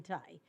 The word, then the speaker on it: Tai: Ambassador Ambassador Catherine Tai I I think that's what it's what how her name is pronounced Katherine Thai these extraordinary times and circumstances